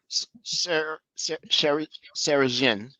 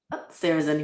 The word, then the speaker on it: Sarahzin: So Sarah Jean, am I saying it correctly? Sarah's in. Yep.